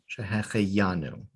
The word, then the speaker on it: Shehecheyanu: And in this case, the accent should be marked with the yud. Shehecheyanu.